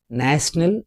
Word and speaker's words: national: Whereas in national it is having three syllables and the stress is on the first syllable.